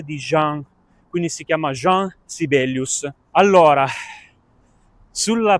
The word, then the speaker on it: Jean Sibelius: E quindi, secondo me, va pronunciato alla francese, Jean Sibelius.